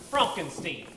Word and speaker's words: Frankenstein: My name it's pronounced Frankenstein.